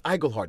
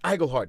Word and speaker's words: Iglehart: It's that great thing of, like, you know, spending 40 years of your life going, no, it's Iglehart, it's Iglehart. And they go, oh yeah, Iglehart.